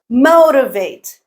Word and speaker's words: motivate: is the stressed syllable motivate motivate motivate MO is the stressed syllable Japanese Japanese Japanese KN